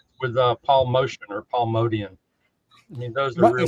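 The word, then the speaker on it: Motian: Excuse me, it's Modian. That's what I thought. It is Modian. Says Mr. Expert Jazz. No, I don't know. You say Motion, I say Modian.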